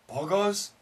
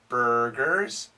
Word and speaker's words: burgers: turkey birds burgers purple i'll say it wrong four four no four tucky tucky no turkey buds buds no birds bogos pogos no burgers burgers no purple purple now i have a